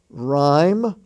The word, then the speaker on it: rhyme: the honor roll h-o-n-o-r honest h-o-n-e-s-t the H is silent there ghost g-h-o-s-t ghastly g-h-a-s-t-l-y rhyme r h y m e that word rhyme